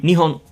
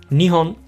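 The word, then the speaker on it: 日本: The same goes for Japan, which would be Nihon Nionhon. Nihon.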